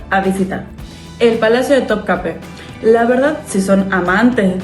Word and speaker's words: Topkapı: Muchos de ustedes me estuvieron corrigiendo en varios de mis videos cuando pronunció top cap. ¿Por qué se dice top cape?